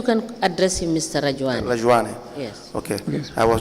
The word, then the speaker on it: Rajuani: My full name, Rajuani.